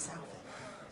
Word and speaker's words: Southey: Is it Southey or Southey? It's Southey. Rhymes with mouthy.